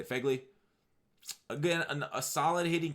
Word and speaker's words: Phegley: to say his name Phegley I think that's a you say FEGLI I've been a solid